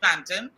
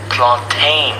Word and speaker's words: plantain: the food network and listen to how these americans pronounce planting they say but this gentleman wanted to put the mispronunciation to bed let's take a listen you mean planted plantain plantain listen shabba plantain where